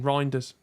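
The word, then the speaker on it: Reijnders: was I saying 14 reinders I haven't watched him much at AC Milan but he you like because it rhymes with grinder yeah there you go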